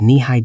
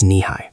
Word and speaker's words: Nehi: The brand name was Nihi, pronounced kneeh high.